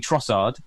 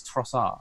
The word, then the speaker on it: Trossard: We've been saying Trossard. Apparently it's Trossard. There's no D.